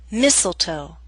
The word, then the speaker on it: mistletoe: Christmas only Christmas now here's a list of words in which a t- sound is left out note that this list is not complete listen as I say the words bustle Christmas hustle mistletoe whistle wrestle now bustle and hustle